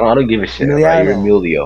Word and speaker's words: Emiliano: Emiliano. Emilio. Emiliano. There's two. Oh, why does everyone just call me Emilio, man?